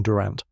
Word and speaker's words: Durant: Pronunciation Durant like ant with emphasis runs a gallery uptown tied to Harro's imports.